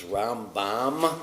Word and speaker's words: Rambam: Maimonides is Rambam with an M at the end.